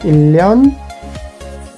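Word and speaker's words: 일년: Number 2 को देखिए आप, उदाहरण को, इल neon will be pronounced as इल्यान।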